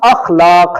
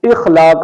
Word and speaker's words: اخلاق: تلفظ ہے افطار۔ ایسے ہی یہ لفظ اخلاق ہے، الف پر زبر کے ساتھ، جبکہ عام طور پر لوگ اخلاق الف کے نیچے زیر کے ساتھ اسے ادا کرتے ہیں، تو اس کا درست تلفظ ہے الف پر زبر کے ساتھ اخلاق۔ ایسے ہی یہ جو